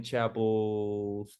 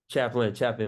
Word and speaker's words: Chaplin: I remember we were watching Charlie Chapel's. I hope I pronounce his name right. He's like an older filmmaker. He we used to watch Like what era? Charlie who? You mean Charlie Chaplin? Chaplin.